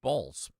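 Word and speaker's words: Baals: Do we know if they actually did decide to name because it's a B-A-A-L-S is the actual spelling, but the pronunciation is in fact balls.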